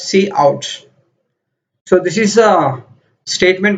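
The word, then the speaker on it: cout: we call this associate we pronounce it as C out so this is a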